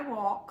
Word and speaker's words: walk: I walk fast. There's the short A, walk. The L doesn't come through very well.